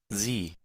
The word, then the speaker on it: Sie: Bien, pronunciación con S vibrante y una I larga. Sie, sie, sie, Ahí seríamos con la S vibrante al principio.